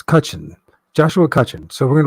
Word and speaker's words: Cutchin: And it's not Chuchin, it's Cutchin.